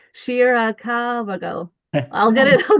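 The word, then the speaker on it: Shirakawa-go: is a place called Shirakaguro. Not, no, that's not how you say it. Shirakagago.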